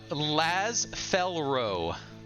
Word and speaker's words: Laz Felrow: Laz Felrow. Oh, that's what it was. Laz. Just like Yaz.